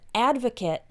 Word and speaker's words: advocate: helping homeless people so when used as a noun the word advocate is pronounced this part is actually pronounced kit advocates for the homeless